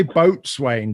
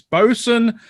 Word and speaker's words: boatswain: looking at this and want to say boat swain but it's bosun double ipa and this is coming in at 8.4 another one we have is bosun hlv ale which stands